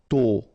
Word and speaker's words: tôt: Tôt, okay, final D not pronounced, and then this O accent circonflexe is a bit stronger than normally, so tôt, tôt, tôt.